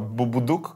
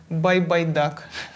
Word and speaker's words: Байбайдак: Слушай, А ты уверена, что Бубудук, которого ты нам посоветовал, он так произносится? Нет, он произносится Байбайдак.